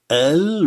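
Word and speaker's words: ال: Le elif à l'intérieur du mot et à la fin se prononce a, mais dans l'article, on le prononce el, tout simplement.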